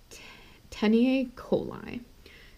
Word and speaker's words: taeniae coli: And that's called It's hard to pronounce, but it's teniae coli.